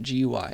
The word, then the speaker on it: GUI: Graphical user interfaces, or GUIs for short, GUI, if you've seen that. It's pronounced GUI, and it's short for graphical user interfaces.